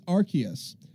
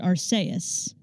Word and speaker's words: Arceus: debate over name pronunciation it is Arceus based on the japanese so the way based